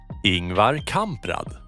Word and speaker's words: Ingvar Kamprad: Ingvar Kamprad.